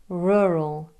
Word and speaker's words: rural: So if you are Spanish, Italian, or German, you may be tempted to try to tap or trill the R. R. If you are East Asian, you might try to use an L sound. Either way, you'll be struggling to pronounce those two tricky R sounds so close together.